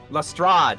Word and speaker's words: Lestrade: Gatorade, but pronounced like Lestrade.